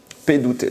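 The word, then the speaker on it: פדות: Pédout. Là, il n'est pas écrit dans la Torah, ça se prononce toujours Pédout, ça ne change rien au sens ni à la prononciation.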